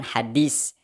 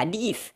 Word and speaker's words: hadis: Kata "bin" dipertanyakan, pengucapan " hadits" dipertanyakan. Karena yang benar, katanya, adalah hadis, hadis. Hadis menggunakan huruf 's', hadis.